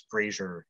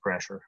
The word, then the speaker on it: Brasher: Notice in the text, we used to tell our readers how to pronounce Brazier instead of Brasher.